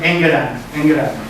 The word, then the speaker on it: Engeran: Esto se llama, se escribe Angaran así, pero se pronuncia estas breves son Engeran.